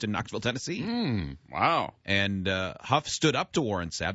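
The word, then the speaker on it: Hough: Brooke Burke's dancing partner, Derek Ho. Derek Huff. Huff is how you pronounce it.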